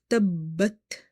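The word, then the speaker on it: تَبَّتْ: So when it comes to word Tabbat, you have to emphasize on letter Ba in order to pronounce it twice. Ba is containing Shadda, this tashdid sign on top of it, which tells us that the ba, letter ba is twice.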